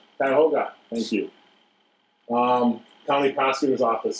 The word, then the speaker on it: Cuyahoga: Cuyahoga, if I'm pronouncing that right? Cuyahoga, thank you.